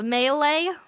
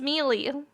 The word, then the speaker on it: Melee: What do you pronounce? Melee? It's Melee.